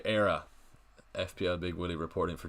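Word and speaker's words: Éire: we FPL Big Willie how do you say era FPL Big Willie reporting for Judy era is how you say it um like like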